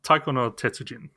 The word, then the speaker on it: Taiko no Tetsujin: I know, at least know how to pronounce it. Taiko no Tetsujin.